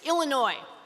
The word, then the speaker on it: Illinois: is much easier it's illinois i grew up there you don't pronounce the s on the end and if we have